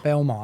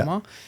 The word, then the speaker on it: Belmar: Belmar, that's how you say it. Yeah. Belmar.